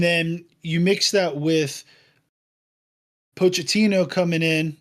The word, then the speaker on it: Pochettino: And then you mix that with Pochettino coming in, right? That's how you say his name or coach. Mauricio Pochettino.